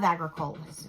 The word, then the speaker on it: Agricola: I love agricolas. So, agricola. Whatever. We said it wrong for so long now. I can't remember which is the right way.